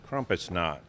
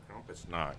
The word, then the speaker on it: Krampusnacht: Krampusnacht. Krampusnacht? Krampusnacht.